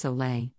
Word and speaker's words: sole: Instead, we are referring to a balanced salt water solution, often termed as SOL, pronounced Soleil, made by mixing natural salt, like Himalayan pink salt, with pure water.